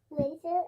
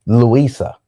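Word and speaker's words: Luisa: Lisa, Emanuel, and Isabella. What? Lisa, Emanuel, and Lisa? No, Lisa. Louisa.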